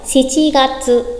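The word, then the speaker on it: 七月: Nhắc lại, chúng ta có 3 tháng đặc biệt. Tháng 4 là Shi Gatsu. Tháng 7 Shichi Gatsu.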